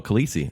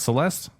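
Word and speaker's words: Caliste: original last name was kaliste and the show was too hard to pronounce let's change it to the Knight oh Khaleesi okay yes I get it not Celeste so c-a-l-i-s-t-e huh weird at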